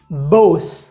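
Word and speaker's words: voz: अगला नियम यह है कि स्पेनिश में उ बे या वे का उच्चारण बे जैसा होता है, बे बे। उदाहरण के लिए बाका जिसका मतलब है गाय, बोस जिसका मतलब है आवाज,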